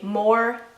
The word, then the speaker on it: Maura: The way that I would break this down the easiest would be to say Maura.